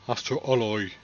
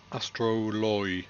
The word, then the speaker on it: Astroloy: like you mean it Astro alloy Astro it's not alloy it's alloy and it's o l astroloy astroloy that's Astro alloy